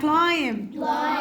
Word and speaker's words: climb: هنا قولوا معايا كلايم البي مالها سايلنت يلا رايت الدبليو سايلنت